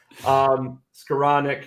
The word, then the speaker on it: Skowronek: Skowronek, you're right.